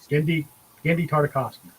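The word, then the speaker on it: Genndy Tartakovsky: Gendy Tartakovsky. Got it now. So between now and next week, you guys can look up what properties Gendy Tartakovsky created and worked on.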